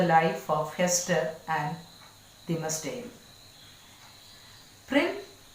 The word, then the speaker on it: Prynne: Prynne rhymes with sin, while Dimmesdale suggests dimness, lack of insight, lack of boldness that characterizes the young minister.